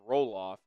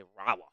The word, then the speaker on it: Rolloff: my name wrong like my last name is rolloff um and some people say rof it's like well that kind of sucks that's not my name but all right got